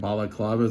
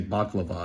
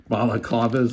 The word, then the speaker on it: balaclavas: Balaclavas. I always say baklava and fuck it up. Balaclavas, like the headwear.